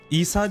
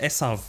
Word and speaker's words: Esau: diyecektim Az önce de İsa deyince de hani haz İsa'nın isası gibi değil dostlar esau Ya da esav da denir ama İngilizce okunuşuyla İngilizce okunuşuyla İsa diye okuyorsunuz e Evet bu arkadaşın